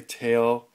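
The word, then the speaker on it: tael: Some people say tail, T-A-E-L, which is, I believe, the Indonesian or Malaysian pronunciation of liang or leung, which is Chinese ounce.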